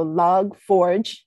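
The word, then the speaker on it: Log4j: um this is a software framework right so log forge is how it's pronounced and it's apache and it was heavily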